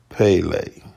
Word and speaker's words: Pelé: years old he was known by his nickname Pele uh Portuguese pronunciation was Pele he was a Brazilian